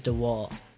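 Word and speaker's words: DeWall: 8th edition or something meyer's the wall that's how you pronounce it let's go find a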